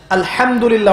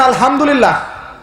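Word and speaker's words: الحمد لله: আলহামদুলিল্লাহ অর্থ মানে কি? এখানে যে হা আছে, এটা কি বড় হা না ছোট? হুত্তি না হাওয়াস? হায়ে হুত্তি, এটাকে বলে বড় হা। উচ্চারণ কোথা থেকে করতে হয়? মাঝখান থেকে।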